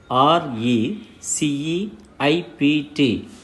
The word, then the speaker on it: receipt: you pronounce the word r e c e i p t yes the word is receipt here p is silent now dear children let